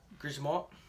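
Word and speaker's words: Grzmot: So, I am right, she does use the Gizmot mines, and yes, they are pronounced like that, Gizmot. Some of you might pronounce it a different way, but that's how I pronounce it.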